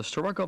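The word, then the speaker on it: Starrucca: It may be spelled one way and pronounced another, but we heard locals call it the Sturroco Viaduct.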